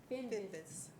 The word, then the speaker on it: Finvis: Before I move to the next item, Alex, could you tell me how to pronounce the last name, Finn? Say it again. Finvis.